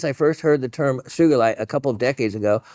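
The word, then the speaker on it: sugilite: first heard the term sugarite a couple of decades ago I always pronounced it with a hard G that's great soft G just sounds wrong the other favor of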